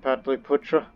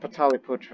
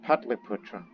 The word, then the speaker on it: Pataliputra: going on down at Pataliputra by the way that's correct pronunciation it's not Vitaly poacher it's partly Putra you know sanskrit pronunciations standard shorts should we